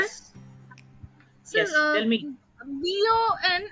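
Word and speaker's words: beau: B-O-N. This is nasal. Boom. There is a nasal sound. Boom. And here, when I scroll down, it is simple bo.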